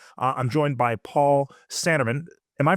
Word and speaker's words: Sanneman: So, today, uh I'm joined by Paul Sandeman. Am I pronouncing it correctly, Paul?